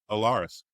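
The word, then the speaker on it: Alarys: and is still pronounced Allaris.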